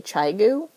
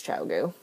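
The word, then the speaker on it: Chiao: look it up and the internet says it's Chao someone told me Chu um which is just a weird concept to me because it's not spelled like chai It's spelled like Chia but I looked it up and apparently it's chiau so chiau needles so that is I'm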